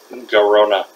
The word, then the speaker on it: Garona: I can't pronounce her name. Garona.